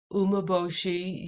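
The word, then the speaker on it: umeboshi: the heck is it it's three syllables the origin is Japan it's a tremendous alkalizing agent it's been fermented for 18 months and it's a ancient tradition of food processing and it is called an umaboshi u-m-e-b-o-s-h-i plum here it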